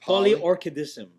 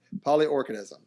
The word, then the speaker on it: Polyorchidism: Polyorchidism. Polyorchidism. See, that's where I was screwing up. Thought it was orchid, but I was like, no, that can't be it. Polyorchidism.